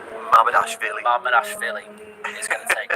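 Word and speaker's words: Mamardashvili: the half-decent opportunity for Yokohama, half-decent save from Marmadavici. Some people aren't happy with the Marmadavici pronunciation.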